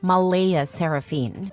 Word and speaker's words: Mleighaseranphynnne: Claire insists it's pronounced Malaya Seraphine, but she's adamant about keeping the creative spelling because normal names are boring and my daughter deserves to stand out.